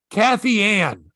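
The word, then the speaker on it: Kathianne: you say that catherine no it's not k-a-t-h-i-a-n-n-e kathy ann cathy ann bonito a city tobacco inspector is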